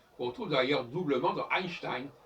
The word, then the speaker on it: Einstein: retrouve d'ailleurs doublement dans Einstein. Ein, E-I-N, Stein, E-I-N. Et on prononce A.